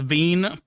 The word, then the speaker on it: Wien: It's pronounced Veen.